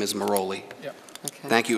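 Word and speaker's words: Merolli: That's how it's spelled, though people tend to pronounce it Morelli. His name is Moroli.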